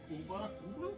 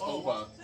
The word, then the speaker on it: Oba: What? Uba? It's It's Oba.